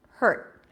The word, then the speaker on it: hurt: hurt hurt right just I block the air and that's it I end the word and that's how people recognize that it's a T hurt right so then someone